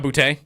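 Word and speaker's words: Boutte: He has Keshan Boot. Keshan Boute. Yeah. Boute is how you say it.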